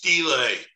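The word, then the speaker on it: stela: pharaoh do you guys know whether it's pronounced steel or stell it's stila belay okay thank you so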